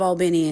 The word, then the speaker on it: Albany: Hey guys, native Albinian in here. It is pronounced Albini. A L L B I N Y. Albany.